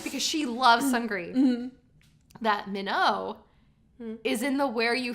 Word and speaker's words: Minho: sorry, did you say Minho? And then she pronounces his name differently than I do. She How does says she- like Mino.